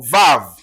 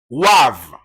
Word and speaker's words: Vav: Dans l'hébreu antique, c'était Wav. Mais dans l'hébreu moderne, c'est Vav.